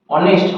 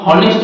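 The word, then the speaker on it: honest: এর উচ্চারণ না হলে এন হয় যেমন দেখো অনেস্ট হনেস্ট বল না এইচ উচ্চারণ জন্য কিন্তু হচ্ছে না হ সেটা হচ্ছে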